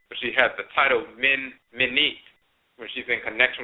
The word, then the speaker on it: Men: But she has the title Men Menit when she's in connection with Amenet. Just like the deity Men, they often spell it M-I-N. It's really M-E-N. He's called Men.